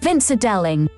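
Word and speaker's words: Vinzer Deling: Vincer Delling.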